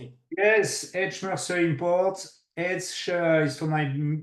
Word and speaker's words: H Mercer: do you how do you say it yes Ed mer import Ed is for my business partner Mar